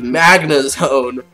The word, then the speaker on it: Magnezone: magnet mac magazine what is wrong with me Magnezone alright there we go that's how you pronounce it all right off the bat I